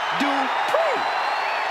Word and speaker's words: Dupri: Uh, Michael, it's pronounced Dri. The following contest is scheduled for one fall. Making her way to the ring from Phoenix, Arizona, Maxi Dri.